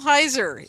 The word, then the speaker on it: Heiser: Michael Heiser is and Michael, am I saying it right?